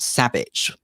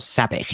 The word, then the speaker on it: sabich: Well, I like something that's very similar that's called sabich or sabich. It depends what part of the country you come from that you pronounce.